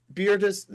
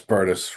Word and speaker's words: Burtis: And again, Beartis, am I saying it right? It's Burtis, rhymes with Burtis.